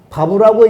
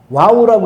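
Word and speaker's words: ו: 요것이 발음을 저는 V 발음으로 해서 바브라고 읽는데, 유대 랍비들은 이렇게 읽고 미국과 한국에서는 W 발음을 해서 와우라고 읽는데, 이게 정답이네 저게 정답이냐고 그러는데 그건 각자 알아서 읽으세요. 발음은 그렇게 중요하지 않아요. 바브도 정답이고 와우도 정답인데, 저는 유대 랍비들이 읽는 발음을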